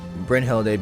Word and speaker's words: Brynhild: is going to be Brynhilde, because the songs actually focus on Brynhilde. For those who don't know, Brynhilde is the Japanese pronunciation. I know it's Brynhild, but in Japanese her name is Brynhilde.